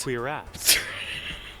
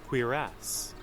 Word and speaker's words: cuirass: This is an historical piece of armor, and it is pronounced Cuirass. Cuirass.